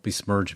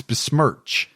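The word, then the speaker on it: besmirch: Don't bismerge me. Dis bismerge you. I would never bismerge you. Smurched? Did I say it wrong? Yes, you said it wrong. It's bismerch.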